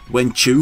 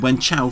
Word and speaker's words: Wen Chou: Wen Chou is so uncared for in this dub that they don't even settle on a single pronunciation of his name. "Wen Chew" from Yuan Shao and "Wen Chow" from Cao Cao.